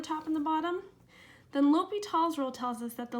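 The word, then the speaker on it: L'Hôpital: call it l'hopital's rule looks sort of like l'hospital but I think it's French and it's pronounced l'hopital so l'hopital's rule says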